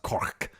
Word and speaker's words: Kork: the striking of it so that's why it's pronounced cork because it's like that zap that when it lands so i'm i struggle